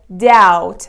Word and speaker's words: doubt: it familiar for you it is doubt the letter B is completely silent and it is used